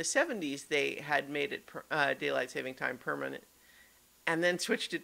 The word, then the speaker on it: daylight saving time: i just even said daylight savings time again i've been trying to say it correctly because the correct term is daylight saving time not savings but ever so many